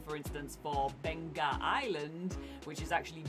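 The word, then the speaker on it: Beqa: mess up is uh the letter Q is actually pronounced like G So like um you might see the spelling for instance for Bena Island which is actually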